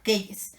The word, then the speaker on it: quelles: Y para el femenino plural va a ser igual, lo mismo, pero con una S extra, quelles. Pero todos se pronuncian quel.